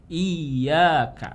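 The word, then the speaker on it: إِيَّاكَ: Nah, itu tasydid itu kita menekan ya, maksudnya kita membacanya jadi lebih ditekankan ya. Kayak tadi ini ada tasydidnya, berarti bacanya iyyaka. Nah, iyyaka. Jangan sampai bacanya seperti ini jadi kayak iyyaka. Jadi ada panjang dulu, kemudian masuk ke tasydid. Nah, itu tidak. Tapi langsung iyyaka na'budu wa iyyaka nasta'in.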